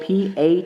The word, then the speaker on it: patois: spanish now there is what's known as a patois this is spelled p-a-t-o-i-s a patois is a dialect that